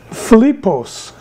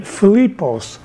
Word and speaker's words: Philippos: His name means Philippos. That's how you say it, Philippos.